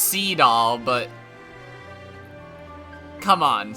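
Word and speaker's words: Seadall: I know it's pronounced SE doll but come on see it all it's it sounds like you're saying see it all really quick see it all cuz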